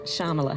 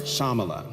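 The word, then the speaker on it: Shyamala: your mother Shala so the y is silent shamala shamala yeah my mother was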